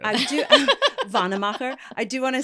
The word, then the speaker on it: Wannemacher: So It's pronounced Wannemacher. I do. Wannemacher.